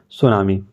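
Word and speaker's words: tsunami: आई ठीक है तो टी इसमें क्या रहता है आप सभी को पता है साइलेंट रहता है हम लोग लिख नहीं पाते हैं लेकिन इसको बोलते क्या हैं सुनामी 2004 में एक घटना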